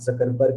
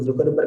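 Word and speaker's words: Zuckerberg: सभी बच्चे सुने होंगे कि मार्क जकरबर्ग इसके क्या है, मालिक है। कुछ लोग जुकरबर्ग कहते हैं, कुछ लोग जकरबर्ग कहते हैं। प्रोनाउंसिएशन तो हमको जकरबर्ग ही लगता है।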